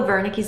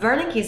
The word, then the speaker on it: Wernicke's: With Wernicke's aphasia, just think that someone is talking to you, perhaps in a different language, and you don't understand. So in German, the W is pronounced as a V.